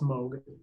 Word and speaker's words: Moog: the horse's mouth moe looks like Moog but pronounced moe sounds great alright what else can you kind